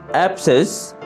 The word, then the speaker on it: abscess: অ্যাবসেস, ফোঁড়া, বিস্ফোটক। অ্যাবসেস, ফোঁড়া, বিস্ফোটক। এখানে mark করা সি লেটারটি হচ্ছে অনুচ্চারিত লেটার।